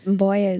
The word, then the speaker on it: Mboya: I was I was looking at it and I was like, "I believe it's Mboya." But it could be a different pronunciation. Mboya is perfect.